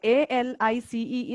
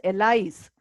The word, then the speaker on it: Alice: Okay, A-L-I-C-E is pronounced as Alice. It is not pronounced as Elise.